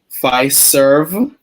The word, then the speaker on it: Fiserv: opportunity to move to phi serve make sure i pronounce that karen um so it's f i s e r v right it's the the financial services and payment company um not not pfizer you know the drug company right i got the